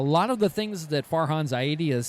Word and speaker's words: Farhan Zaidi: Farhan Zaidi.